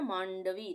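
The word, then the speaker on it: माण्डवी: व्या उसके बाद है मांडवी मांडवी य पर हम प्रयोग करें तो हम नाक से थोड़ी आवाज आ रही है ना मांडवी तो यहां पर ये आधा ण आएगा मांडवी ठीक है सत्य परा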